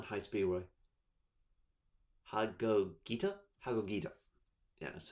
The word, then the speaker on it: Hagogita: 1 Borreload Savage Dragon, and 1 High Speedroid Hagogita?